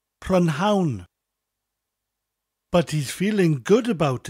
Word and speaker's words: prynhawn: In his English class, he is learning all about pronouns, but he can't get the pronunciation right. He keeps saying prynhawn, but he's feeling good about it.